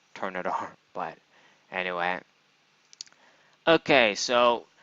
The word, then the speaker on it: Turtonator: I just realized recently that it's called Turtonator, not Turtonator, but anyway.